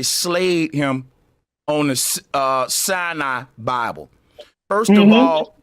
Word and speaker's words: Sinai: him on the uh Sinai Bible. First of all, Billy was mispronouncing it. It is the Mount Sinai Bible and he was calling it damn like the Cyanide Bible or something. That's a poison.